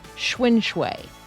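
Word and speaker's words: xuan: I am thinking the first part of the word is pronounced like the bicycle. And then uh yeah, I think you can do pretty easily. Schwin.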